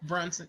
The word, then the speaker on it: Brunson: That's how you pronounce her last name? Quinta Brunson. Yes. Brunson.